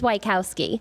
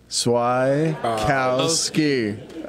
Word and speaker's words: Swieckowski: it to the kids it's Wieckowski tortoise Wieckowski so Wieckowski okay everybody swai Kowski alright we're really known